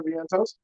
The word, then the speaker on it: Vientos: Mark Vientosis, or excuse me, I'm pronouncing his name wrong.